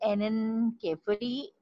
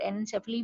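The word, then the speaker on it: anencephaly: Picture जो है वो एनेनकेफली, और एनेनसेफली भी बाज प्रोनाउंस करते हैं, लेकिन एनेनकेफली मैंने किसी डॉक्टर से प्रोनाउंसिएशन दी है, देखी है, पूछी है, एंड आप नेट से भी चेक कर सकते हैं।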